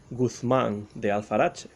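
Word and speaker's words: Guzmán: criminal and of course the word guzman comes from the english pronunciation of the name of mateo aleman's rogue guthman but the popularity of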